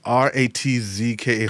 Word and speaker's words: Ratzke: That's Ratzke, Ratzke. You have to say it like Sven Ratzke.